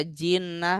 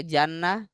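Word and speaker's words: جِنَّة: kosakata terus ini juga Kenapa dibaca jinnah Bukan dibaca Jannah dari kosakata kalau Jannah nanti artinya surga ya kan tulisannya sama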